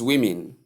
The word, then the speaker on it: women: Number one is women. Why do we pronounce it women?